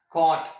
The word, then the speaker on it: cot: written as corti a you want to pronounce it as caught a this is regarding the